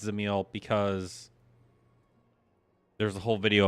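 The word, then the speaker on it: Dzemael: I know that's pronounced Zil because there's a whole video about how you pronounce some of the words.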